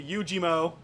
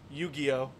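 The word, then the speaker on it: Yu-Gi-Oh: now we're going to Yugi mo or as people who like correct pronunciations might know it yugioh Slifer the sky dragon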